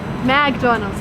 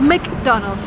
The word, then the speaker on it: McDonald's: It's not McDonald's or McDonald's, it's McDonald's.